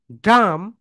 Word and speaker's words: dumb: Spoken ইংলিশে এরকম শত শত সাইলেন্ট লেটার্স রয়েছে, সেগুলো আমাদেরকে বের করে নিতে হবে। এখানে দেখো COMB, খোম, DUMB, ডাম।